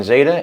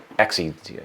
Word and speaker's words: XETA: It's not XETA, excuse me. We pronounce it with a Z, but we spell it with an X.